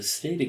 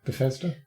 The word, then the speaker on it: Bethesda: really getting into the stada games this year this last year it is i've pronounced that wrong haven't i bethesda bethesda that's the one i'm terrible at that